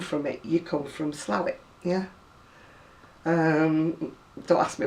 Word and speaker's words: Slaithwaite: if you come from it you come from slavic yeah um don't ask me why it's called